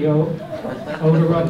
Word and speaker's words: odora: I know everybody pronounces Daphne odora, and we do adore Daphne odora, but I pronounce it odora because it's referring to its odor.